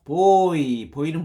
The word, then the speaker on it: buoys: 자, 어떤 것도 보이는 뭐야? 소년들이여 야망을 가지고 왔죠. 소년들 보이하고 발음이 똑같죠. 보이.